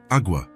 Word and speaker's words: agua: "Agua," Elena replied. "It's pronounced agua, with a very soft G-E.